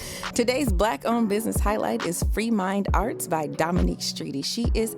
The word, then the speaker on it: FREEMINDXART: Y'all can find our girl on IG at Free Mind Art. I'm going to spell it for you. That's at FREEMINDX. She says the X is silent.